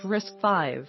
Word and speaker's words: RISC-V: RISC-V, pronounced RISC-V, it's entirely open, permitting anyone to use and adapt its design.